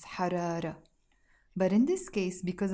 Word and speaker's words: حرارة: حرارة is a feminine word and it finishes with a Taa Marbouta, a T sound that we don't pronounce, حرارة.